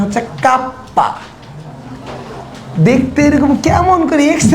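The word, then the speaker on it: kappa: আর চুম্বক প্রবণতাকে আমি কে দিয়ে প্রকাশ করব, বাট এর আসল উচ্চারণ হচ্ছে কাপ্পা।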